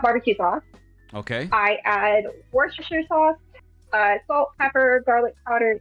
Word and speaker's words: Worcestershire: I add Worcestershire sauce, salt, pepper, garlic powder, and Amazing. And you nailed that pronunciation first try. Worcestershire sauce. Worcestershire sauce.